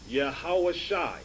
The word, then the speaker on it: Yahawashai: You have the Yah, Ha, Wah, Shah, and the I sound here, pronounced Yahawashai.